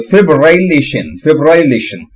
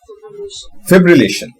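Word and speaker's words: fibrillation: अगर मुझे बोलने में परेशानी है तो मैं पहले क्या करूंगा, फिब बोलूंगा, फिर रिल बोलूंगा, एशन बोलूंगा। तो फिब्रिलेशन। इसका भी प्रोनाउंसिएशन था यहां पर कहीं, ये था फिब्रिलेशन।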